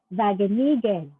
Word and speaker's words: Wageningen: Hindi siya W, it's Wageningen Physical Medical Congress.